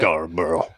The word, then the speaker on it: Scarborough: Am I pronouncing that right? Scarborough, Maine. Yep. Scarborough.